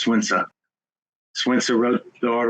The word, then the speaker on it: Sun Tzu: It's not Sun Tzu, by the way. His name is pronounced Sun Tzu.